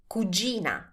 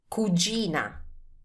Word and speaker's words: cugina: If it's a female, is cugina. Cugina. Now, pay attention to the pronunciation of this word because this can be tricky too.